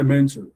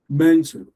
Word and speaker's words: mentor: The language says if you have two syllable if you have a two syllable word all right technically known as bicelabic words it should stress one and unstress the other.